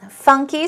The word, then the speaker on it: funky: of all we have funky funky stress goes on the first syllable and as I told